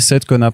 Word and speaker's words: Seidkona: Donc ça se dit Saïd Kona Press. Parce que moi je dis Saïd, du coup on sait jamais.